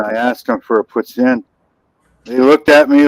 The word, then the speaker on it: poutine: Spell it or say it right. It's poutine. It's not poutine.